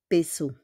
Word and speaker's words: pesos: J'ai 20 pesos. J'ai 20 pesos. I have 20 pesos, okay? We don't pronounce the S with the peso.